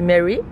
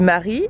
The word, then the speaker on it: Marie: La première fois, j'ai essayé de le prononcer en mode bah l'américaine, j'ai dit Mary et ils me l'ont écrit M E 2 Ry. Et cette fois, je me suis dit "OK, je vais le prononcer à la française pour voir comment ils l'écrivent." Donc j'ai dit "Marie". Elle m'a dit quoi ?